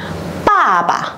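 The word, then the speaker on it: 爸爸: Rồi cái đằng sau mình không có dấu gì, mình đọc nhẹ đi này. Pa pa, pa pa. Mình sẽ không đọc là papa nhé mọi người, mà là pa pa.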